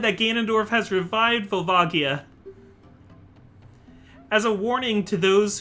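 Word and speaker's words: Volvagia: All of them will be eaten by Vvagia, or Vulvagaya, as some people call him. I was going to bring this up. We'll discuss that in a moment. Dad said that Ganondorf has revived Vvagia.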